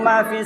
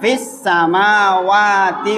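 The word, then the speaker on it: فِي السَّمَاوَاتِ: Allahu la ilaha illa huwal hayyul qayyum la ta'khuduhu sinatu wala naum lahu ma fis samawati wa ma fil ard.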